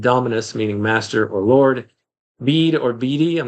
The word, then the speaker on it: Bede: And the name Bede, B E D E, is pronounced like Bead.